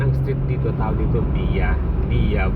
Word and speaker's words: Via: Depends upon your country how to speak English, because we are Filipino, we could say V-I-A. It's a soft English. At kung sa Italiano naman, ang mag-pronounce ng Via, V-I-A, Via.